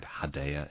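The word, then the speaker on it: Hedaya: casting you know dan hidaya is is a pretty incredible actor and um he's been in or hadaya if you want to pronounce it that way i i've always said hidayah since i was a kid um he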